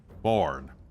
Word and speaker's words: Forn: forn is the name forn forn rhymes with one of my favorite words love me some corn all right good night